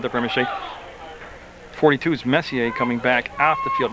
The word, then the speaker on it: Messier: But I had asked his dad, not this year, but last year, how you pronounce it, Messier or Messier, and he said he went with Messier.